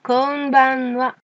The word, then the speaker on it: konbanwa: Et maintenant le dernier qui est notre équivalent du bonsoir, konbanwa. Attention, il y a encore des N. Au ralenti, ça donne donc konbanwa.